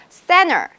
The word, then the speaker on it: center: 미국 발음에서 NT 중간에 보이죠, 그쵸? Center 할 때 NT 이렇게 붙어있는 경우에는 T가 자동적으로 탈락되면서 발음을 안 해. 그래서 center이라고 발음하게 됩니다.